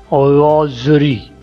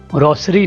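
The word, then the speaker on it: rosary: रोप, रोप, तस्बी, रोजरी, ये word क्या है, रोजरी, रोसरी नहीं होता, रोजरी, चिटाई, रग, रग, बोरी,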